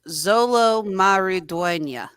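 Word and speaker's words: Xolo Maridueña: Cobra kayz ha RZ I actually got the pronunciation downloaded here it is Zolo maruda alongside Adriana barazza Damian Alazar leedia Carillo which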